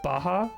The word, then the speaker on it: Baja Blast: they really are they really they are it's pronounced Baja oh is it Baja Blast oh I can't